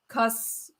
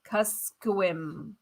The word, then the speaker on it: Kuskokwim: It says it's pronounced Kuskokwim. Kuskokwim. Okay. Emphasize first syllable.